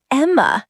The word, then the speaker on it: Emma: Are you the Emmy Watson family? Almost. It's Emma, not Emmy.